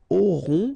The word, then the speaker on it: auront: Then, ils auront, final T not pronounced, O-N together, on, auront, okay.